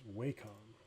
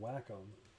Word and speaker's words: Wacom: and eke I think he schooled me on the pronunciation and it's Wacom but I've always called it lakum and I don't know if I'm saying it right but anyway so alright